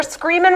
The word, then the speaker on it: Screamin': We're Screamin' without the G. To everybody. I don't know where I'm supposed to look. We're Screamin' but the G is silent.